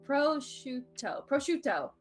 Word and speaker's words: prosciutto: Speaking of me, have you had proscute?